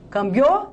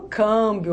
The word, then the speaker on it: câmbio: Eu falo cambiou? Não, eu falo câmbio, ó, tá? Tem um acento.